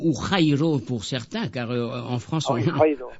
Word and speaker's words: Jairo: Alors Jairo ou Jairo pour certains, car en France voilà, c'est ça. En France on ne prononce pas la jota.